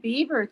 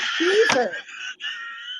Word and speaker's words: Bieber: Oh, I look like Justin Bieber there. You Is it do Beaver? not. I thought it was Beaver. It's Bieber, right? Is it Bieber?